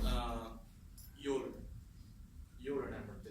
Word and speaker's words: Euler: So how do you guys pronounce it? Euler?